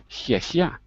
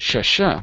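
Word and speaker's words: 谢谢: But in Chinese they say xie, which means your tongue is behind your bottom teeth, like saying thank you in Chinese. Xie xie, right? It's not sh sh, but xie xie.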